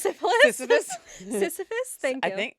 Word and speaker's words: Sisyphus: Syphilis? Not Syphilis? syphilis. Sisyphus?